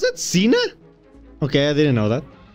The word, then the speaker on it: Xena: how it going Cena it's that's how you pronounce it Cena okay I didn't know that push a catapult